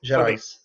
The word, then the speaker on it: Gerais: Is the S pronounced in that? Yes, Gerais.